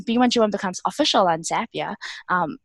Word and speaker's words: Zapier: use every day and they like to say that zapier rhymes with happier and we think that